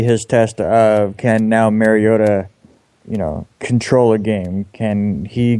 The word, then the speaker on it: Mariota: I'm looking at this game, and I'm so excited for Mariota. That's how he likes to pronounce it. That's apparently the professional way.